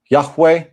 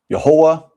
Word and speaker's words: Yahweh: Pronounced Yahweh, Yahuah, Yahuwah, Yahuah, Yahuwah. Some people even say Yahweh.